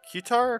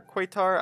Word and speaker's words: Qatar: i took over qatar or how do you say it qatar quaytar i don't really remember you know people will be angry about that probably isn't that cutter no it's called cutter that's how you say